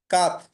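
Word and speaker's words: quatre: হচ্ছে থ্রি, তোয়া মানে থ্রি, কাত মানে কাত। হচ্ছে, কাত মানে হচ্ছে ফোর, কাত ফান। মানে হচ্ছে 4 কাত উচ্চারণটা শিখতে হবে, নতুন কোনো হচ্ছে সংখ্যা শিখতে হবে না।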